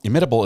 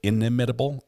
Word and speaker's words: inimitable: Is it inimitable or inimitable? You pronounce that middle I.